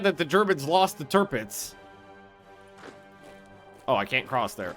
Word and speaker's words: Tirpitz: Thought it was No, it's Tirpitz.